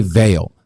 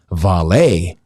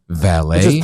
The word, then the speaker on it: Vale: this brazilian company and they pronounced it valet which is portuguese for valley so i'm going to be the idiot calling it valet portuguese we're going